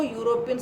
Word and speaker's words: European: But again it's wrong, because even though European starts with E, it's pronounced as U sound.